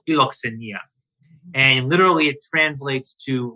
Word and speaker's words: philoxenia: How do you pronounce that word again? Philoxenia? Philoxenia, yeah.